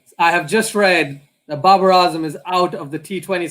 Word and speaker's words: Babar Azam: So it's Babar Azam. That's how you say it. Yeah. Man, we get it wrong every time.